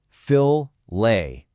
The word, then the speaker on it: fillet: But listen to how you say it. Fill-lay. Just like in castle, that T is totally silent.